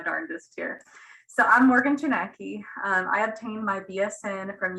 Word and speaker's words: Kochnacki: And the next presenter is Morgan Kochnacki. Thank you, Vanessa, for trying. It's Chinaki. Just pretend, pretend that J is silent.